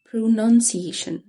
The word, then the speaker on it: pronunciation: pronunciation. none مش noun. pronunciation.